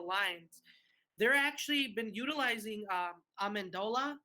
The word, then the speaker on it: Amendola: they're actually been utilizing Amendola I believe that's how you say his name yeah I mean really